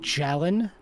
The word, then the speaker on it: Jalen: It's pronounced Jalen, as in a gallon of milk.